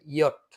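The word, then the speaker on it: Jot: এটাকে জার্মান ভাষায় বলে ইয়ট। এটাকে জার্মান ভাষায় বলে ইয়ট। তবে এটা যখন আপনি বইয়ের মধ্যে পড়বেন কিংবা কোনো ওয়ার্ডের মধ্যে পড়বেন, তখন এর উচ্চারণ দিবে কিছুটা ওয়াই এর মতো, ওয়াই।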